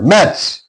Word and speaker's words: match: So T is silent here. Match T is followed by C.